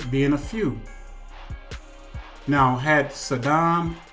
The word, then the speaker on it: Saddam: a few now had Saddam Hussein or some people pronounce his name so down had he would have